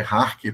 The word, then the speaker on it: Jarque: Na verdade, a pronúncia eu acho que é Harque, porque ele é Ah, o tá. Carlos Harque, ele é mexicano.